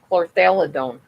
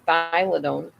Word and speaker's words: chlorthalidone: Chlorthyladone is how you say it. Chlorthyladone. No, chlorthalidone. I'm bad. Sorry. Chlorthalidone. I don't know why I kept saying thylidone.